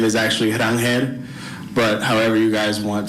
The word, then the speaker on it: Ronald Acuña: Yeah, the proper pronunciation the the proper Spanish pronunciation. Here it is. All right. The question was around Venezuela and also how he actually says his name. So, my name is actually Ronald Acuña but however you guys